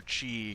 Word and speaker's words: ki: to do special abilities Chiqui however that's pronounced I know in the the D&D it's ki so it's pronounced ki and I've heard it pronounced chi or ki when they reference a similar concept in real life I guess you're very